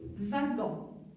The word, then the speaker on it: wagon: La lettre W parfois se prononce V, comme ici, wagon, wagon, wagon, d'accord?